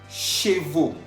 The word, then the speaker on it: chevaux: Chevaux. Chevaux. Estamos viendo que chevaux está escrito al final con la A-U-X. A-U-X, que se pronuncia O.